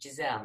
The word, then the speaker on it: Giselle: Giselle. With a soft G.